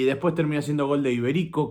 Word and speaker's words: Iberico: Y después termina siendo gol de Iberico, que lleva tilde en ahí, por eso es Iberico.